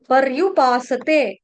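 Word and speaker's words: पर्युपासते: आधा बोला जाता है स आधा नहीं बोलना स पूर्ण और परयु र आधा नहीं है र आपको पहले बताया रफार वाला र है आधा उच्चारण करना है र का पूरा नहीं करना है ठीक है परयुपासते ये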